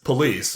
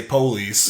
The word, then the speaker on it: police: But it's the correct pronunciation, what most of us know, is police, right? That's what we call them. Mm-hmm. But there's people that mispronounce it and say police.